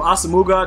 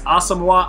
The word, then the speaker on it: Asamoah: I remember I used to call him Asamuga, then he was like, it's Asamoah. I don't know how to say it, and I don't really care, dog.